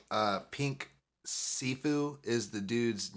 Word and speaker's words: Siifu: Pink Sifu is the dude's name. Sifu is spelled Siifu.